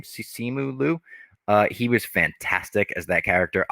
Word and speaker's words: Simu Liu: I thought Simu Liu, I believe that's how you say his name, Simu Liu, he was fantastic as that character.